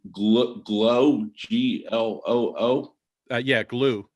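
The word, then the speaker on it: Gloo: gl glow g-l-o-o yeah glue is is actually how they pronounce it okay but it's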